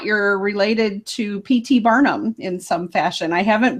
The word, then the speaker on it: Barnum: The name originally is from England, In England, it is spelled Barnham, but it's pronounced exactly the same. Barnum is Barnum, both sides of the Atlantic.